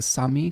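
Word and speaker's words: Sámi: or experience with the I believe it's pronounced the Sami culture uh the reindeer herders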